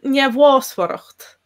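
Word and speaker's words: neamhbhásmhaireacht: pronounce that myself as njavwasvaracht, but definitely you could pronounce it other ways. So it would depend a lot on dialect. So I'd have the first MH as a V, and then the BH.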